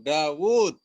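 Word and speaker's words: داود: Dawud. Ya, Dawud itu wawunya pendek tulisannya, tapi dibacanya panjang.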